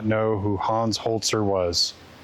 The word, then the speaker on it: Holzer: Let's talk about Hans Holtzer. Honer holeser. So I It's read as hoer, but I guess it's pronounced holtzer. Holtzer, like with a t.